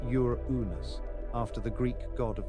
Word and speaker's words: Uranus: astronomers later named it Uranus pronounced Ur unus after the Greek god